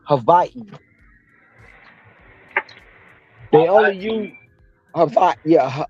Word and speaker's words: Hawaii: it's it's actually pronounced Havi they only use hav yeah Havi so the W's are not is not a w it's two v's put together um anything with a